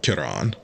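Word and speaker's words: Ciaran: So, I feel like there can be no debate that FromSoft intended it to be pronounced Kiran.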